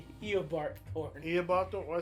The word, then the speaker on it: Eobard Thawne: Bob Thorne. Messed up stuff. That's how you say his name, right? No. How you say his name? Eobard Thorne.